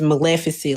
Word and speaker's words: Maleficent: It's Maleficent like Malificent.